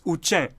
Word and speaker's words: Uchen: And this, the name for this Klingon-looking beauty that is the Tibetan script, how do you think it's pronounced? Any clue? Time's up. It's Uchen.